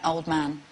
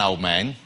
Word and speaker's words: Oldman: An Old Man. OK. And that's her name. She's not An Old Man. No, people pronounce it Oldman, and she likes to correct them. It's pronounced Old Man.